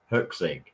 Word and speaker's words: Huxley: Okay, just to put you out of your misery, it's Huxley. It does not help me. Huxley? Okay, Huxley. Just how it's spelled, basically.